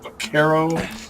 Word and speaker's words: Vaquero: Because I think, like for example, the name Ruger Vaquero is actually pronounced Vaquero. It's spelled Vaquero, but Spanish works differently.